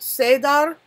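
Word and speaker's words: Seiðr: Sidar, pronounced Sedar, Norse rune, means cord,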